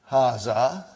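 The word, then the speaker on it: هذا: Haza. Huh? See it is pronounced like ha. Huh? But this al if is not written. Huh? It is explained in the key also. So it is haz.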